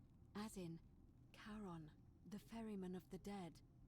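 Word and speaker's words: Charon: It's just as you described it, only your pronunciation is a little off. The name you heard wasn't Karen. It was C H A R O N. in Kon, the fairyman of the dead.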